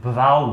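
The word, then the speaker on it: brow: जैसे मैं आप लोगों को एक वर्ड बताऊं, जैसे क्या है, अब ये इसको ब्रो पढ़ते, ब्रो नहीं, ब्रो नहीं, ब्राउ है।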